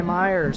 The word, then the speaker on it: Myers: Brought down at about the 48-yard line is Eli Myers. Hey, Les Schwab Tires. You know what rhymes with Myers?